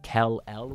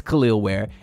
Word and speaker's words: Kel'el Ware: feel stupid though because for a while I was pronouncing it Kell L I told you to subscribe can't be the only it look exactly like that but anyways it's khil wear and he's coming in